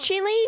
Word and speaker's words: Chile: A spell like child but pronounced chile.